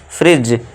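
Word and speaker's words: fridge: उस डी को नहीं लेना है। और हम इसे क्या पढ़ेंगे हम? फ्रिज। और इसे डी को साइलेंट रखेंगे।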